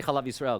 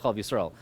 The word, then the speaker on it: Chalav Yisrael: I shouldn't even say Chalav Yisrael because the people who keep it don't call it Chalav Yisrael. They call it Chalav Yisrael. It's an emphasis on syllable kind of thing.